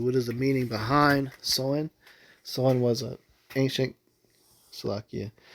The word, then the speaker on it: Samhain: So Sam Hayne which is pronounced sewing Sam Hayne or sewing is a Gaelic festival on November 1st marking